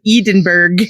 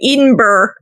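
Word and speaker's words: Edinburgh: So if you're in Edenburg Yeah. Tilbert temp in Edenburg. In Edenburg. God. Every every Scottish person is just shipped right now. Okay. I'll pronounce it the Scottish way. Edenber.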